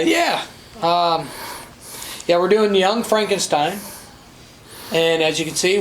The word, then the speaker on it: Frankenstein: - Frankenstein Frankenstein froggen that's frankenz that's pronounced Frankenstein now this movie oh my